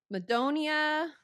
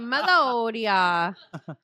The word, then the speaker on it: Madonia: the kidnapping yeah so Madonia was released from prison in 197 oh yeah I said it wrong again melodia melodia it's melodia so melodia was released